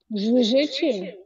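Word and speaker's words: zwierzęciem: РЗ читается как ЖЖ. ЖЖ. Звежечем? Да, звежечем.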